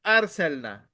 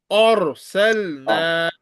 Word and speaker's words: أرسلنا: Wal دي Ardi, والأرض Arsalna. أرسلنا You will not recite it as Arsalna. This is Or. Ra is thick. Arsalna.